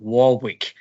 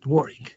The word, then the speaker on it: Warwick: of the University because I would have pronounced it Warwick as it is spelled but uh I was